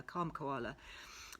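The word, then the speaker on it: Kalm Koala: have a look so calm koala which is spelt k-a-l-m as in calm k for koala kom koala they have a really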